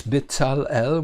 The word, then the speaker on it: Bezalel: Bezalel, I don't know how you pronounce him, but in Hebrew it's Bezalel, meaning in, Tzal, the